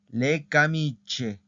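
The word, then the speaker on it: le camicie: Entonces es la camicha, le camiche, le camiche. La I no suena, ¿ok? En este caso. Aquí ya vimos un ejemplo donde sí suena la I. Aquí en estas no suena la I, ¿ok?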